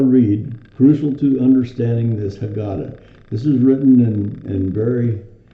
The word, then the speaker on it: Haggadah: It says the Haggadah, and that's the proper way to say it, is Haggadah. Okay? It's Haggadah.